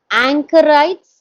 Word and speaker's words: anchorite: pronunciations with you um anchorites is it that how it is pronounced in the next page anchorite anchorite is correct and then Wilder or